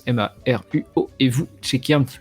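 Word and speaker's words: Maruo: donc s u ehiro Margot comme ça se prononce Emma Ruo et vous checker un petit peu ce qu'il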